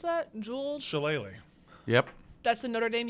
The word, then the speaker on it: Shillelagh: how do you pronounce that? Jewel? Shillelagh.